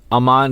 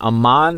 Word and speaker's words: Amon: I like Amon because it sounds like a badass, like Egyptian, like warrior or something, but it's probably pronounced Ammon because it's based off almond. I guess it all depends on how you pronounce almond. Are you an almond person or an Ammon person? I'm an almond person, so this is Amon.